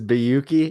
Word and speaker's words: Bayoukhi: people know yeah my my last name is biyuki it's a yeah it's very tough to pronounce i know when you're spelling it out